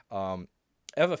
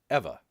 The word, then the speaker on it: Ewa: to find what's called Eva. It's spelled EWA, but I found out that it's kind of pronounced Eva. So I hope I get that right.